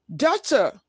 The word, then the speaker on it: daughter: BT in doubt, daughter. PT in receipt. ED in picks, slats. Fixed, washed, watched, kissed. Note, letter B is silent in doubt and daughter, while P is silent in receipt.